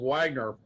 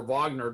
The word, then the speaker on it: Wagner: The group that used to be called Wagner, or Wagner, depending on how you want to pronounce it, that private company,